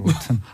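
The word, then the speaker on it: rotten: 원래 제대로 하려면 로튼이라 해야 되죠. 로튼.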